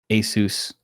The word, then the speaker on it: Asus: guys let us know in the comments below are you getting though Asus Rog Ally see I said it right at